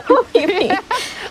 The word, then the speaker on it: Hoppip: I don't even know how to pronounce it, but when I used to be a child, I used to say Hoppipi. Because every time there's a P, it's not silent for us.